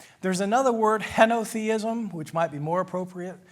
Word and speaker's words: henotheism: There's another word, henotheism, which might be more appropriate. Henotheism is spelled H-E-N-O, theism, henotheism.